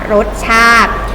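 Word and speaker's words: รสชาติ: ขึ้น มา ตอบ ๆ คำ ว่า รส ชาติ นะ คะ เขียน ชา ติ แต่ เวลา อ่าน ไม่ ต้อง ออก จาก อีก นะ คะ รส ชาด นี้ คือ คำ ที่ ไม่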